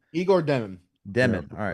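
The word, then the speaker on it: Demin: Igor, how do you pronounce Demon, the last yeah. name? Igor Demon.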